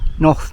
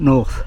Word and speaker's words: Noth: Noth, not north.